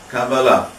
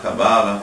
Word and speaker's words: cabalá: vem de hebraico eh a maneira correta ou certa ou pelo menos segundo a língua hebraica de pronunciar essa palavra é cabalá mas se alguém falar cabala isso não é errado porque a gente hoje